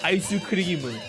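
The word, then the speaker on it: アイスクリーム: It's Isuimu. That's how they say ice cream.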